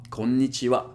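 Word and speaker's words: こんにちは: japanese alphabet called hiragana you might have noticed that the last character is ha but in this case it's a particle and therefore it's read konnichiwa you don't have to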